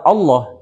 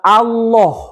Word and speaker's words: Allah: Pada saat lam ini, pada lafaz Allah dibaca tidak Allah, Pak. Tidak o, tapi lah. Terdengarnya, nih kalau saya tutup mulut, terdengarnya loh. Allah. Padahal sama sekali tidak loh. Allah.